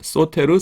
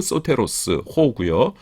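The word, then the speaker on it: σωτήρ: 소테르 , 소테르 ...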